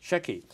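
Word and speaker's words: Sheki: a uh a little uh town is it pronounced Shey yes Shey and it says here uh a true travel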